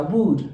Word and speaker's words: would: condicional que es would fíjense que la l no se pronuncia would en esta palabra la